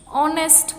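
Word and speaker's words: honest: ऑनेस्ट girl. जैसे मैंने पहले भी कहा था एच जो है वो साइलेंट है तो क्या हो जाएगा?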